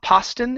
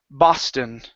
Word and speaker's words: Boston: uh the word Boston give me a b sound here instead of PA paston it's B Boston yes Boston okay one